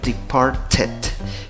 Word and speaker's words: departed: El primero, departed. Como el verbo, la pronunciación acaba en t originalmente, tienes que ponerle una sílaba más. La sílaba adicional puede ser ed o ad, ¿correcto? Por eso dices departed.